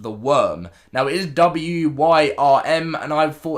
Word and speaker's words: Wyrm: Now, the other thing that has been confirmed is something that I always say the name wrong, but you guys actually help me understand that this is called the Worm.